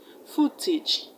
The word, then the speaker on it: footage: The AGE in advantage is not pronounced as age, it's pronounced age. Advantage, advantage. Vintage, footage.